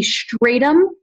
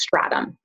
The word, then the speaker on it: stratum: So it can be stratum or stratum. I prefer saying it as stratum.